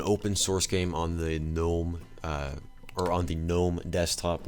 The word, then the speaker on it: GNOME: There's actually a GNOME version of this that comes bundled with GNOME, I guess, or GNOME, but it's just pronounced GNOME.